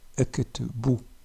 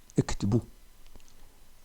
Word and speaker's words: ektbu: Donc le u ici se prononce ou. Ektbu. Ektbu.